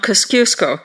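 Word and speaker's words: Kosciuszko: negative 15 meters the highest point is Mount kaskusco that's spelled k-o-s-c-i-u-s-k-o at 2229 meters Australia is rich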